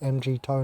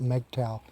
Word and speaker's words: MGTOW: That's why I call it MG-toe, not MGTOW. Because MGTOW is just pronouncing the acronym weirdly.